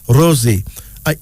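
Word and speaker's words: Rozi: word meaning sustenance then there's Rosie Rosie r-o-z-i pronounced Rosie is African female name derived from the English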